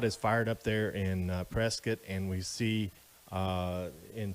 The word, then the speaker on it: Prescott: it it looks like prescott boy don't say that when you're around here local pronunciation and the correct pronunciation is prescott so we're gonna be